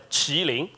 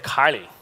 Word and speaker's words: Kylin: letting the whole story in Chinese we pronounce it as chilling so you can see we always the pronounce is either killing but most of you rise the West people will pronounce it Kylie are both walking right